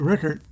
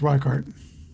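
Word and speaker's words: Richert: The new pitcher is Pete Rickert. No, it might be, I think it's pronounced Reichart.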